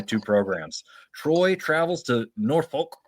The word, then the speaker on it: Norfolk: Troy travels to Norfolk or Nafolk if you locals say it.